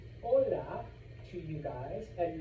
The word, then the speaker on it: hola: If you see an H in Espanol, do not pronounce it. That is why I say hola to you guys and not hola.